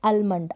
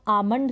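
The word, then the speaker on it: almond: ठीक है ये है आलमंड आप ऐसे पढ़ेंगे इसको आलमंड आलमंड का मतलब बड़ा जो की बिल्कुल गलत है इसको हम आमंड करके पढ़ेंगे ल यहां पर साइलेंट है क्या है ल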